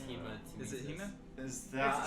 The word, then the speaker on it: hematemesis: Isn't it hediomesis? No, it's hematemesis.